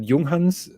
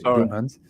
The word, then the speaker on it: Junghans: What strikes me with that Junghans, that is the proper pronunciation, by the way, Junghans, is it doesn't have a changing city ring.